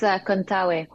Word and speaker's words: Contaoe: It's like the AOE. So I'm Filipino, and the like roots of the Philippines is Spanish, part Spanish. So the pronunciations is that you say every vowel as they sound.